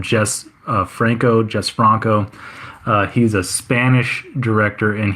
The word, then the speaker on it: Jess Franco: It looks like Jesus, but I think they just call him Jess Franco.